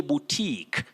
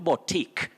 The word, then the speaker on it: boutique: riley nancy waffulau busia you say boutique not batik boutique very common locally but inaccurate you say boutique then